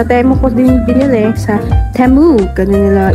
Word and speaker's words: Temu: so ito sa temo ko din binili sa temu ganun nila ipronounce temu So yung mga pantulog ko dito